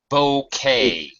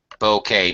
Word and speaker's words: bouquet: this is the fifth bouquet Bou how yeah we don't pronounce the T the t is silent fifth bouquet notice fifth I don't